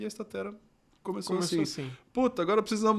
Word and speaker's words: Statera: Estatera, que no começo a gente chamava até de estátera. E aí a gente foi até um professor de latim para entender como que seria essa pronúncia correta. E a gente entendeu que estatera que soa bem melhor, né?